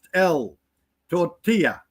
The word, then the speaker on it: tortilla: o tortilla novel l a not pronounced l tortilla.